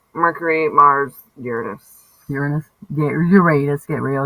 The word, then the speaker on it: Uranus: Yeah, Uranus, get real. It's in your ass. It's the only way I ever remembered how to say it.